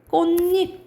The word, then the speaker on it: 꽃잎: 이게 음절의 끝소리 규칙이고, 근데 앞에 받침이 있고 이가 왔네? 그러면 니은 첨가 일어나는 거야. 니은 첨가 일어나요. 그쵸? 그런데 디귿이랑 니은이 만났다. 그럼 뭐가 일어나냐면 비음화 일어나서 결과적으로 어떻게 발음 나는 거야? 꽃잎 이렇게 발음 나는 거예요.